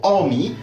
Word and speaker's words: Army: Mais, si on rajoute un tout petit R de rien du tout, comme par exemple, en formant le mot Army, alors on constatera que le R ne se prononce pas et qu'on perd totalement la prononciation du A comme il est prononcé dans Amy, pour donner place à quelque chose qui ressemble à un "aaa".